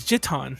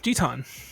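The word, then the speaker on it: ジタン: Did you know that his name is not either of those in Japanese? Is it Zidane? No, it's Jitan. Jitan. With the J. Jitan. Yeah, his name really is Jitan.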